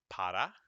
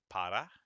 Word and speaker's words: para: like but it's just otherwise one r just makes a little d it's almost like a d okay so see if